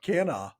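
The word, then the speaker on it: Canha: Mike, what are your thoughts on losing Mark Cana to the 10day injured list? My thoughts are you never say his name correctly, and I still find that hilarious. It's just Cana. It's Mark Cana.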